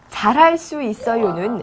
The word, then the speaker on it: 잘할 수 있어요: 잘할 수 있어요는 쓸 때는 잘할 수 있어요라고 쓰는데 발음할 때는 잘할 수 있어요, 잘할 수 있어요라고 발음을 합니다.